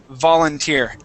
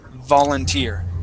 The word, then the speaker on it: volunteer: what volunteer okay uh it's sort of a w sound so what you want to do you want to say the volunteer place your teeth right on top of your lips volunteer volunteer try that volunteer